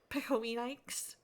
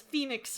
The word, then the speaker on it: Phoenix: who did not pronounce Phoenix right. Called it. And I'm like, did no one remind you that a P and an H next to each other make the make the F sound?